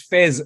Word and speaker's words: Faiz: spelled f-a-i-z so just let me clarify that it's pronounced fez as an f-e-z but whatever you call